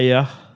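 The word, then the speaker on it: Éire: C'est Air. Air. Air. E-I-R-E. C'est ça.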